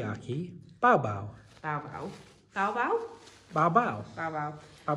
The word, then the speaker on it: Miyake: It's Miyake.